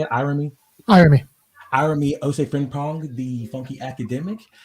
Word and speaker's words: Irami: Irami Ose Frimpong, the funky academic. Irami, would you like to tell people about yourself a little bit? Yeah, my name is Irony Frimpong.